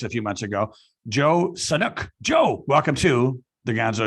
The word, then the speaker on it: Sanok: on his podcast a few months ago, Joe Sanok. Joe, welcome to the Gonzo Experience. Thanks so much, David. So excited to be here. Did I say Sanok? That's how you say it, right? Sanok.